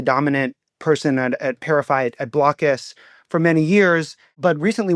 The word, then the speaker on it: Blokus: And one of our favorite board games is this game called Blockus. It's spelled Blokus.